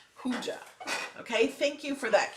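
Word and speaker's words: hygge: Okay, the Hygie is pronounced Hugie or Hoogie. Hooja, not G. Hooja.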